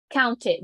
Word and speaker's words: counted: Pronounce the E, include the T. Counted, the D. Counted.